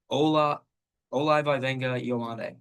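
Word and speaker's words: Olaivavega Ioane: Ola Ola Vena Yande.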